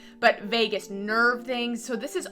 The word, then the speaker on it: vagus: is the nervous system healing so somatic exercises Vegas wow I can never say it right Vegas nerve vagus nerve exercises um I don't know why I